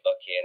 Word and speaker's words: Buchanan: old buck I guess some folks used to pronounce Buchanan buck in and I'd never heard